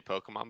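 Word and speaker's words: Pokémon: Pokemon Sword and Shield announced their expansion, Isle of Armor, and the Crown of Tundra. They're going quick thing. Go ahead. I've never heard you say Pokemon before, and I don't support how you say it.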